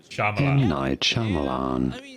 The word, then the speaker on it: Shyamalan: M. Night Shyamalan. M. Night Shyamalan.